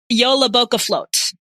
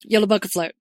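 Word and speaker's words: Jólabókaflóð: So I'm going to Google the pronunciation. Yeah, it doesn't do you good to Google the word in Icelandic. Jólabókaflót. Jólabókaflót.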